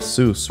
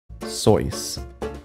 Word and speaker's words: Seuss: mother's maiden name while the actual German pronunciation of soos rhymed with the boys soy sauce soys the American pronunciation rhyming with juice stuck that's crazy imagine